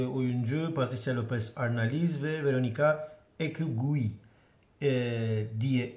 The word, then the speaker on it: Verónica Echegui: İkinci oyuncu Patricia Lopez Arnaliz ve Veronica Ekgui diye okunuyor.